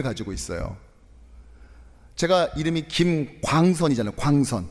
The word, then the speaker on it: 광선: 광선. 이게 이중 모음인데 이중 모음을이 미국 사람들이 발음을 잘못해요. 어느 날 저희 둘째가 초등학교 다닐 때 갔다 왔는데 갔다 오더니 저를 가르키더니 막 뭐라고 말을 하는 거예요. 아무리 들어봐도 이건 영어가 아니야. 뭘까 했더니 이러는 거야 저한테.이 이 뭐